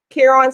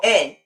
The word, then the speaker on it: Caron: Caron Simply Soft. Why do you pronounce it wrong? It's a big thing because my middle name is Caron. It's Caron? My middle name is Caron, Caron.